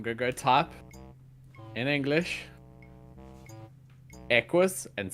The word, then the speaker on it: Equus: Equus. You're the Stop! only one in the world who calls it Equus. equus. Whatever. Equus. I bet It's someone else. Because the Q is a CK in pronunciation.